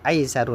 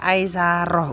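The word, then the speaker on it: أيسر: Itu bacanya innal qabra awwalu manazilil akhirati fa inna jaminhu fama ba'dahu aisaru minhu. Itu bukan dibaca aisaroh Ustaz ya gitu. Itu bacanya aisaru.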